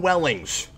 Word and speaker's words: Welling: Tom Wellings. No one has ever mispronounced his name. Is it Wellings? I thought it was Wellings. See, now I would have been wrong. No, it is Welling.